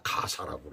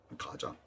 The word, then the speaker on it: 가자: 그런데 왜 블레셋이라고 그랬고 왜 가자를 갖다 가사라고 그랬는지 도대체 이해가 안 가요. 우리 성경은 가사라고 돼 있잖아요. 가자. 왜 가자라고 그랬는지, 왜 가사라고 그랬는지, 아짜라고 왜 발음 못해요.